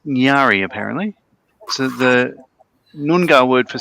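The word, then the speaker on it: Ngari: up the meaning n g a r i pronounced nari apparently the nunga word for salmon so she's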